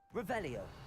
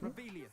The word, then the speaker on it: Revelio: Rebellious. Saying it wrong. Ugh, Revelia. Ok, por ahí. Revelio.